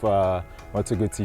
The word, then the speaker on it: Moto Guzzi: This is the pinnacle of Moto Guzzi cruisers. Just hearing the term Moto Guzzi, I promise you, just the way you pronounce it, 100% correct.